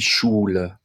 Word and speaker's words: Schule: certainly, but die Schule, I'm letting a lot more air through my mouth when I say the SCH in German. Die Schule. If you pronounce it like the English SH, though, I don't think you'll run into any problems.